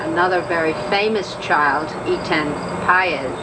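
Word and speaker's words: Patz: very famous child, Etan Paez, who is Pate, as some people pronounce it, whose parents have, as the Goshes have, spent endless hours searching for their lost son, and much pain.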